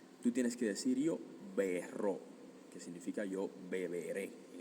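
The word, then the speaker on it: berrò: Y como es labial, los labios bilabial, tú tienes que decir yo berro, que significa yo beberé en el futuro. Yo berro o claramente si quiero negarlo y quiero decir, mira, okay, no voy a beber más, te lo prometo.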